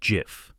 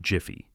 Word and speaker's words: Jif: The brand is called GIF, not Jify. There's no extra syllable, no Y at the end, just three letters, J I F.